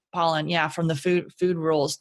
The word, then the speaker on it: Pollan: Is it Pollan or Poland? I always want to say his name wrong, but Pollan, yeah, from the food rules.